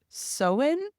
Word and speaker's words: Samhain: tradition originated with the ancient Celtic Festival of seen but it's spelled samine the pronunciation is actually seen apparently during this ancient tradition people would light